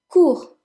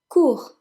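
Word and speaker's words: court: long number 10 is cool cool the T is silent coup which means short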